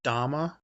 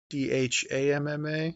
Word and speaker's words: Dhamma: And so they pronounced it Dhamma, Dhamma, instead of Dharma, but it's the same thing.